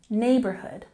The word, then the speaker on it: neighborhood: Emphasize the first part of the word, neighborhood, neighborhood.